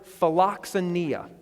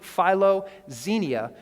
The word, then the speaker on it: philoxenia: Okay, and when I pronounce it that way, it probably doesn't jump out at you. But if we pronounce it philoxenia, you might catch a couple of other words that make kind of this compound word.